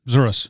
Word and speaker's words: Zouras: I feel like I said your last name wrong. Did I? No, that's correct. Zouras.